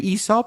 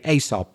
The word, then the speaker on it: Aesop: So you could say Esop or you could say asop.